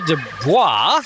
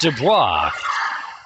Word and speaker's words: De Bois: me there go Olivia De Bois it's pronounced Dubois I'm trying to do